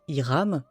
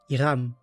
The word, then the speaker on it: Hilram: Ah, d'ailleurs, j'ai remarqué que dans la prononciation, il faut rouler les R, les dire comme des L finalement. C'est pour ça qu'il ne faut pas dire Hiram mais Hilram.